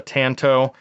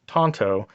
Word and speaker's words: tanto: I'll call it a Tanto but my understanding is that it is a Japanese word and it would be pronounced Tonto and Japanese at least the best I can pronounce it so so you